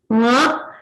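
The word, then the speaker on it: ङ: So this is a little bit difficult to pronounce. It is Nga, and if you observe, they all arise from the kanthasthana or the throat. So you have to just practice saying K, K, G, G, Ng.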